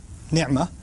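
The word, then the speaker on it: نعمة: لفظ ہے، اصل میں عربی کا لفظ ہے نعمہ۔ نعمہ عین کو میں ذرا زور سے اس لیے پڑھتا ہوں کیونکہ میں عربی پڑھتا رہا ہوں اور پڑھاتا رہا ہوں، تو مجھے اردو کے تلفظ سے ذرا الرجک ریاکشن ہوتا ہے، تو میں نعمہ ہی کہتا ہوں۔ ہمارے ہاں مجھے پتہ ہے نعمت کہتے ہیں، جب بھی میں نعمت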